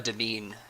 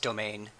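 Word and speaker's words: demesne: there was also a devine nearby or I guess it's pronounced domain like a you know like a place where you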